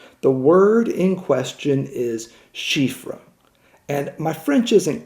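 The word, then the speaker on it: chiffre: ripples throughout television the word in question is shifra and and my French isn't great so I'll spell it for you and then you can then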